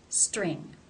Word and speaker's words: string: It is part of a consonant cluster. Therefore, it is pronounced as a real T. T, st, st, string.